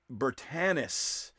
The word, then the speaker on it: Bertanis: It is Bertanis. It's not a hard A.